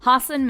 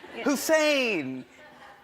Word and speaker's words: Hasan: People always mispronounce it. They're always like, Hasan Minhaj, Hussein. I'm so sorry, I can't pronounce it. Meet my son, Higsby Witherthrottle III. And I'm like, how do you not pronounce Hasan?